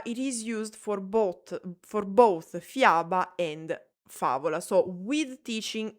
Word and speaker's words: fiaba: Fiaba has the sound ya, so fiaba.